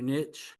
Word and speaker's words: niche: Some people say niche, some people say niche. I used to say niche, but now I say niche just because I've heard I just keep I keep hearing people say it like that.